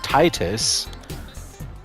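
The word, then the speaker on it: Tidus: and TI T us Titus is sounded with a long I it's spelled t i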